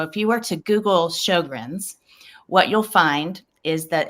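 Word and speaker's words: Sjögren's: if i can actually say it right it's sjogren's right you nailed it well done i remember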